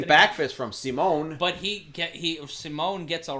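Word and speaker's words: Simón: And pardon me, it's not pronounced like Paul Simon. It's pronounced like Simone. Simone.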